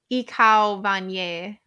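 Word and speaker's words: Ik hou van je: Wait. Ich hou van je. That's how I just pronounced it.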